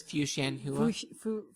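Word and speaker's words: Fuxianhuia: The X is pronounced an SH. Xian. So it's Fuxianhua.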